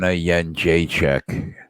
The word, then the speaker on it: Jędrzejczyk: Joanna Jędrzejczyk. It's weird though. Joanna. There's like a few different pronunciations, but I say it how Rogan says it.